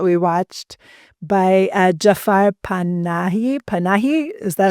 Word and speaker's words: Panahi: Panahi, is that how you say it? I think that's how it's pronounced. Panahi.